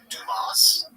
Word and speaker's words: Dumas: This is Dumas. That's how you pronounce his last name.